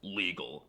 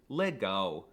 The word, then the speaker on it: legal: The L is also quirky because it's often pronounced as a W, like in the word legal. Well, it looks like it should be pronounced legal, but it's actually legal.